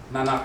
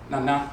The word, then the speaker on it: Nana: So, and it's Nana's a low, high, pronunciation. If someone said, I'm Nana Kofi, and it's N-A-N-A, in English, people use the term grandmother, it's Nana, Nana so-and-so.